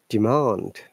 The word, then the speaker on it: demand: Demand. You see? We're stressing the second part.